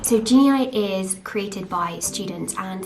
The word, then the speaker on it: Genei: quick note by the way i call it genie eye for the whole of this video um because that's how it's felt but it's actually pronounced genie so genie is created by students and the main aim